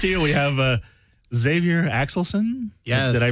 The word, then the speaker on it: Xavier Axelson: they're right next to you we have uh Xavier axelson yes did I pronounce that right Xavier perfect oh great and